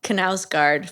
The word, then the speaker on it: Knausgaard: Yeah, I'm gonna be a real Knausgaard figure. That's That's how you pronounce that, right?